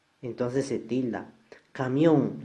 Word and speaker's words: camión: Camión, la mayor fuerza de voz está en la última sílaba, y como termina en N, entonces va tildada.